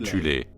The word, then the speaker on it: Thule: Avant la montée du régime national-socialiste, il existait en Allemagne une société secrète occulte appelée la Société de Thule, parfois prononcée alternativement Thulé, composée de sous-factions en son sein.